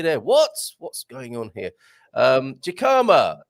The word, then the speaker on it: jicama: Jicama, pronounced Hika. Oh, a silent or a Jicama there.